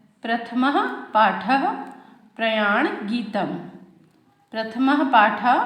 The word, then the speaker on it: प्रथमः: प्रथमः पाठः, ये जो विसर्ग है इसे ह उच्चारण करते हुए पढ़ेंगे आप लोग। प्रथमः पाठः, आपके प्रथमः पाठः में है प्रयाण गीतम।